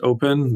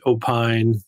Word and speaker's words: Opyn: lot of confusion on how to even pronounce open there are people who pronounced it opine there were people that just said opyn there were people who